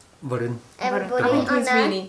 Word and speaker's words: Varun: Varun.